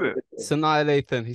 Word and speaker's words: Sanaa: Sana Lathan. I said it. Sanaa Lathan.